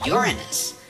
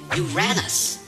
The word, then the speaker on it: Uranus: Famous scientists say the correct pronunciation is Uranus. Early pronunciations of the name include Uranus, and there's also the Greek pronunciation Uranos.